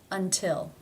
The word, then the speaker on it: until: It is beginning a stressed syllable. Therefore, it is pronounced as the real T. T. Until.